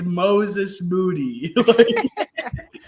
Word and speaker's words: Moses Moody: and going and going yeah like perk it's moses moody there's some tough names to pronounce in this draft and that's the one